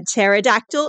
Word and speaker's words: pterodactyl: from jalong West mhm why can't you hear a pterodactyl in the toilet why because the p is silent that's funny all right